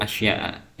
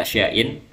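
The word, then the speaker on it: أشياء: Jadi kita mulai dari sini, walladzi yuftiru bihi as-shaimu asyratu asya'a. Ini harusnya dibaca asya'a ya, tapi karena kesalahan dari ya Banarbin atau pentahqiq kitabnya, atau mereka punya dalil tersendiri kenapa dibaca asya'in, tapi kalau kita di sini lebih cenderung dibaca asya'a ya.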